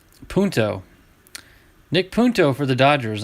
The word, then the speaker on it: Punto: back-to-back but very close duplicates nice uh nick punta punto nick punto for the dodgers i'm glad the